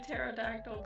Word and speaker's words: pterodactyl: Why can't you hear a pterodactyl going to the bathroom? The P is silent.